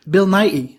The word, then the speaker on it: Bill Nighy: filled Nick Frost Lucy Davis Dylan Morin and Bill Nighy good that's so that's how you pronounce it I always had doubt I realized if there was a T in there so Bill Nighy and now ya know yeah okay very staple